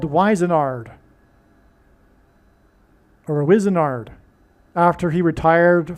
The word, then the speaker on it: Wizenard: So Wizenard rhymes with wizard.